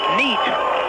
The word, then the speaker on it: Niete: It's spelled Niete, but pronounced Neat.